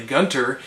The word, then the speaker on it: Gunter: but there's shirley gunther they accidentally put an h into her name it's supposed to be shirley gunter and that typo actually changes the pronunciation of her name which is always the